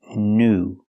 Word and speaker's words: new: It's pronounced oo. The long ooh sound like food and moon. Pronunciation new. Not new but ooh. New example new shoes or New York.